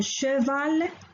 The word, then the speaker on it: cheval: C plus H se prononce che, un cheval, charmante, la pêche.